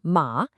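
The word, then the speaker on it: 马: Then on the right we have ma, which means horse and is pronounced ma.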